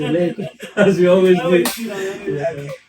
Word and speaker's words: Laycon: It's Laycon.